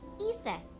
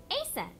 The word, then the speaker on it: Isis: Isis. But in ancient Egyptian, it's pronounced closer to Ise or Asa.